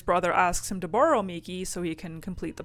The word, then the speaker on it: Miki: And instead of Red, they were playing as a boy named Steven, who has a Charmander named Miki, I believe it's pronounced, M-I-K-I.